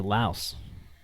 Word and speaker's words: Laos: oh there's no ass I think the S is from the French it's like if you've